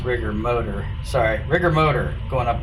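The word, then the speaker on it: Rigor Motor: Alright, Volkswagen number 2 going up against the Rigger Mortar. Probably their best chance for modern cars to get another car in. Oh, I guess that's actually pronounced Rigger Motor.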